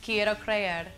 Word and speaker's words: Quiero Creer: Quiero Creer.